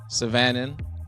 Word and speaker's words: Syvanen: Syvanen.